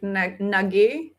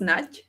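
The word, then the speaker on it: Nagy: That's also like like the singer name is like Nagi but it's pronounced Naj.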